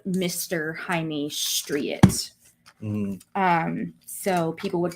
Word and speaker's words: Jaime: And I'm like, "It's spelled Jamie, but it's like Jaime."